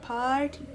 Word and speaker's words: Paaarty: Like that's how they say it, Paaarty, with 3 A's and junk.